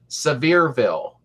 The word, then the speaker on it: Sevierville: You pronounce it right the first time. Sevierville.